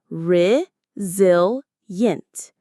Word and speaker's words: resilient: Do you know this word resilient? It's pronounced rizil yint.